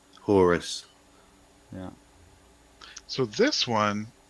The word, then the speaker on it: Horus: Horus? Horus.